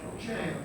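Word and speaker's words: gaol: how do you pronounce G-A-O-L? Jail.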